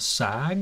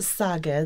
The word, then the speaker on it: SAGA: all so Colleen you are the president of SAG is that how you say or did I say it wrong we pronounce it saga the Suzuki Association of Georgia sa GA you're